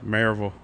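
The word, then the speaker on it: Maryville: Marville. Marville. It's almost for me it's almost like a mayor like the horse, you know, mayor. Marville.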